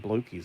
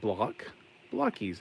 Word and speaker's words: Blokees: They keep people keep saying blokies. It's driving me insane. I mean, it's like blockies. It's like a blockbased body.